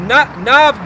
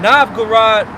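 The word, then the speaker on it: Novgorod: Ruler of of Na Navg. Say it right. Nav Gurad.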